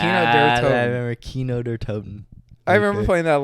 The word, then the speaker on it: Kino der Toten: Kino der Toten. It's a K. Oh, Kino. There it is. Kino Ah, der I Toten. remember Kino der Toten.